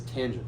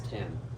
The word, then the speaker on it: tangent: The first three letters, again, I read that as tangent. I don't read that as tan.